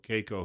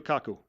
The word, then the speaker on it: Kaku: it may have been Michio Keiko, who is that how I pronounce that, or Keiko? Michio Kaku.